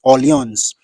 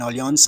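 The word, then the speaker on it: Orléans: Second City I love most in France is audience Alliance is spelled o-r-l-e-a-n-s o-r-l-e-a-n-s that's the spelling of audience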